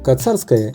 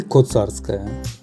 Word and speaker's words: Коцарская: Оказывается, можно произносить название улицы как через А, так и через О – Коцарская или Коцарская. Оба произношения будут правильными, как, например, туннель или тоннель.